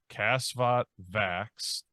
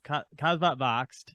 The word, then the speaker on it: Kasvot Växt: going to have to help me with the pronunciation Bryant cuz I'm going to butcher this cvot vax irck yep so it's kvat voxed there we go um irck but you did